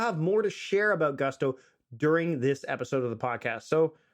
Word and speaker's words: Gusto: Now, what is Gusto? Well, it rhymes with must or Rustto as in let's do it once more with Gusto.